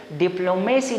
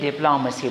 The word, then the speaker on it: diplomacy: Then the last one is pharmacy, जो ज़्यादातर लोग मिस प्रोनाउंस करते हैं. pharmacy नहीं बोलेंगे, pharmacy, pharmacy, pharmacy. And the last one word is diplomacy नहीं बोलेंगे, diplomacy बोलेंगे.